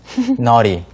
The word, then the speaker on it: naughty: 버릇없게 굴 때가 있어요라는 말인데요가 바로 핵심 단어죠 noty noty children네 발음이 좀 까다로워요 아니도 아입니다 그래서 버릇없이 구는